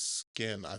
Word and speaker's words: SXIN: That is I want to say his name is Skin, because it's SXIN, and that's the only word that's closest to what it looks like.